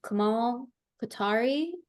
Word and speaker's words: Komal Kothari: The title of her paper is, or presentation is Komal Kothari. Is that the pronunciation correct?